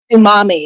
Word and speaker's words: Umami: way what is it Umami it's a it's a play on two it's a planned tsunami and mommy and umami well is